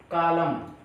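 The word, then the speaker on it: column: जिस शब्द के अंत में एन हो और उसके पहले एम आ जाए तो आपका एन साइलेंट हो जाता है। जैसे कालम, कालम नो, कालम, म ना नहीं पढ़ना आपको, कालम, कालम में वर्ब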